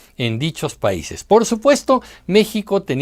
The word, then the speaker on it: México: The funniest thing about it is that in Mexico we have four sounds related to the consonant X. It sounds like J when we pronounce Mexico, Mexicali, Xalapa or Oaxaca; but it sounds like